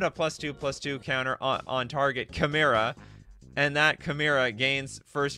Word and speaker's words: Chimera: All right, I've been getting crap from all of you for years that I've been pronouncing Chimera wrong. All right, Chimera. I think it's Chimera. It's a 2/2 first striker.